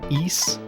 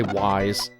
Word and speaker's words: Ys: is oh gosh uh East is the way that you're supposed to pronounce that that's how they say it in the game um I used to say wise but it's apparently supposed to be used anyway in that